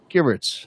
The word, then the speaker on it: Givertz: Givertz.